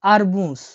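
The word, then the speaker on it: арбуз: তরমুজকে রাশিয়ানে বলা হয় আরবুজ। দেখলেন, তরমুজ আরবুজ মিল আছে কিন্তু, ঠিক আছে? লাস্টে কিন্তু মুজ বলছি, জাস্ট তরমুজকে আমরা আর বলে দিচ্ছি, আরবুজ, আরবুজ।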